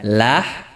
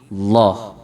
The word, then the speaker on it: Allah: Allah, Allah, Allah, ya, bukan lah tapi Allah, Allah, ya. Jadi ini banyak diantara kita kaum muslimin masih terlalu sulit untuk mengucapkan lafzul jalalah Allah, ya. Ada yang membacanya Allah, ya. Ada yang membacanya Allah. Saya ulangi, ada yang membacanya Allah, Allah, ini salah. Ada yang membacanya Allah, Allah, juga salah. Tetapi yang benar adalah Allah, Allah. Ini cara membaca lam yang tebal.